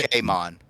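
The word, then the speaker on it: Pokémon: Pokemon, like the E is an A.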